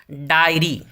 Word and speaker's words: dairy: आगे बढ़ते हैं, अगला लफ्ज़ है डायरी। डायरी यानी रोज़नामचा या डायरी। स्पेलिंग है, रॉन्ग स्पेलिंग है DAIRY। ये डायरी नहीं है, इसे डेयरी कहते हैं। ये भी दुरुस्त लफ्ज़ है, लेकिन ये डेयरी है।